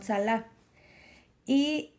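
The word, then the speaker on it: צלע: costilla es esta palabra que se pronuncia como sala iv es referente a algo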